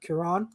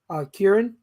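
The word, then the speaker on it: Kyron: How do you pronounce his first name? Kieran. Kieran.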